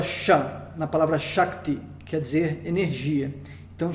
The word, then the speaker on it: Shakti: E a sílaba Sha, então, é longa porque, tendo esse encontro consonantal, ela fica um pouco estendida, não pelo A ser estendido, mas o tempo de duração dela é estendido.